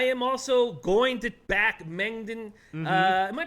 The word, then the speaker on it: Mengden: I am also going to back Mengden. Am I pronouncing that right? Is I think Mengden? so. Yeah. Mengden.